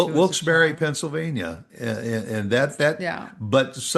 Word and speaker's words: Wilkes-Barre: Wilkes-Barre, Pennsylvania. And and that that Yeah. But some say it's Wilkes-Barre.